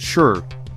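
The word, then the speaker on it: 四: Knocking three times and never four times is quite essential since in Japanese the number four is pronounced sh the same as the word for death and it is always the third stall.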